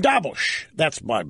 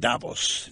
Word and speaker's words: Davos: In Davos, you're not Davos, Davos, like Milos Forman.